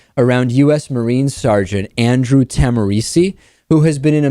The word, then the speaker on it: Tahmooressi: us marine sergeant Andrew tamari who has been in a Mexican prison since March 31st tamari was arrested or or maybe it's tamesi tamesi I think is the correct pronunciation he was arrested by